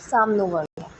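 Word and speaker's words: Sham no Varunah: The emblem of the Indian navy contains the motto साम नो वरुणा, pronounced Sam no Varuna, which means be auspicious to us, O Varun.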